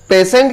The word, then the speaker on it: patient: दोस्तों, यहां पर यदि आप पेशेंट की स्पेलिंग देखेंगे तो पेशेंट में जो है TIE है। TIE को शाह भी पढ़ते हैं।